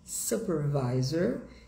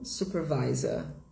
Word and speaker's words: supervisor: escrevemos em inglês também, mas a pronúncia muda. O finalzinho fica visor, supervisor. Em inglês americano, supervisor. Em inglês britânico, supervisor.